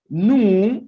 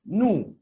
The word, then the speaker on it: nous: But this one, nous and vous, as you can see, when we speak, the final consonant S is not pronounced. They are not pronounced.